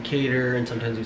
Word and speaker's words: Kader: Oh, by the way, I know we've been saying Kader and sometimes we say Kader. It's either or. Kader is the African pronunciation, Kader, yeah.